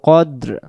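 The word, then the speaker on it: قَدْرِ: অনেকে আমরা পড়ি লাইলাতুল কাদরি খাইরুম মিন আলফি শাহরি লাইলাতুল কাদরি পড়লে কফটা এখানে ভুল হয়ে যাচ্ছে এটা কফটা কাফ হয়ে যাচ্ছে লাইলাতুল কদরি খাইরুম খাইরুম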